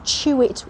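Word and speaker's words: Tewit: Now they call this place, I think it's pronounced Chewit Well. It's T-E-W-I-T.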